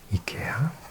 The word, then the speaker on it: IKEA: Some things that we associate with Scandinavia, apart from colourful houses and beautiful fjords, would be IKEA, as it's pronounced in Swedish, from Sweden.